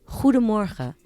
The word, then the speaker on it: goedemorgen: we're known for her that's how he's pronounced the G's so people will be impressed if you know how to actually get that out of your throat without choking so good morning is goedemorgen more goedemorgen who do